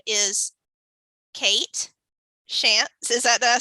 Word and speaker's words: Shantz: decided to join us her name is Kate shants is that did I say it correctly yeah